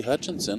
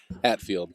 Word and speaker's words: Hatfield: You know, Hatfield, Summerfield, Seinfeld, it's all got a ring to it.